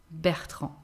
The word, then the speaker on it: Bertrand: Bertrand.